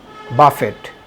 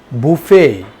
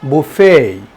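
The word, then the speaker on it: buffet: কি হবে বি U double F ই টি বাফেট তাই না না আসলে না এটার সঠিক উচ্চারণ হবে বুফেই বি U double F ই টি তাহলে এটার সঠিক উচ্চারণ কি বুফেই বিউ ইউ ডাবল এফ ইটি এটার সঠিক উচ্চারণ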